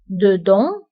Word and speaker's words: dedans: وانتبهوا أيضا بالنسبة ل dedans و dehors كنكتبوهم بأس آخر الكلمة ولكنها لا تنطق dedans dehors داخل خارج.